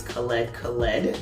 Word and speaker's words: Khaled Khaled: not only announcing the project's title which is khaled khaled that is his name and that's how it's pronounced and he also announced two drake collaborations